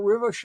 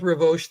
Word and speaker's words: Rivoche: that that was close usually I go with Revo these days R I knew that